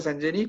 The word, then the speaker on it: Sangenis: Se pronuncia Sangenis, pero es sangenis, ¿no?